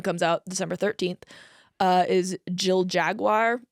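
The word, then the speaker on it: Giljagaur: The next one who comes out December 13th is Jill Jaguar. That's how it's spelled. It's not how it's pronounced, I'm sure. Gully Gawk, who steals any available milk.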